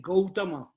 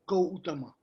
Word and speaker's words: Gautama: Actually, very correct pronunciation is Gautama. Ga first and U and Tama. Gautama.